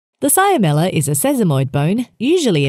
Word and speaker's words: cyamella: Patella, cyamella, fibella. The cyamella is a sesamoid bone, usually embedded within the